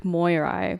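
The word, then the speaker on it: Moirai: you pronounce it um i think it's pronounced the greek moyeri but they're usually just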